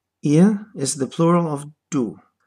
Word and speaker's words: ihr: Note that the pronunciation of this word is close to the British pronunciation of the word ear. Ihr. The R at the end is not pronounced.